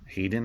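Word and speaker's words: Haydn: sold a lot of ha ydn Hayden I believe it's pronounced classical music CDs that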